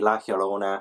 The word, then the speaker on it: La Llorona: Sorry, I was pronouncing things so terribly in my September TBR. But I was corrected, it should be La Llorona.